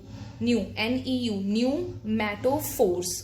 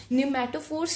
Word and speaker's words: pneumatophores: The P is silent. You will speak like this: NEU न्यूमैटोफोर्स. Okay, F नहीं लगाना, और पी यहाँ पे साइलेंट है. न्यूमैटोफोर्स स्पेशल तरह की रूट्स